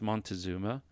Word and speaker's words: Moctezuma: met their leader maktizuma now you may also hear this or see this word spelled with an or this name spelled with an n and pronounced as montezuma either however uh are acceptable when referring to to the empire since there is some disagreement in the transliteration of his name now montezuma had long